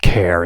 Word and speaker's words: char: This char is pronounced care. It's really short for character, right?